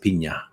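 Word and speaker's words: piña: espanol and uh said no you should pronounce it Pina uh and I said it was I was worried it made me look like a wank games you know you're not a wanky you're just pronouncing it correctly so all right Pina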